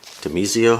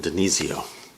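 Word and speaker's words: DiNizio: This is Pat Demizio. How do you pronounce his name? Denizio.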